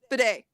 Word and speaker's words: bidet: a bigot or whatever i didn't pronounce it bidet i don't know why i say bigot whatever i don't know